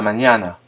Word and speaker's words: mañana: Hasta mañana. À demain. Le N se prononce mieux comme dans le nom montagne en français.